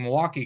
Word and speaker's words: Milwaukee: shout out to Cindy for pronouncing Milwaukee correctly which doesn't have an i or an L in it as a milwaukeean I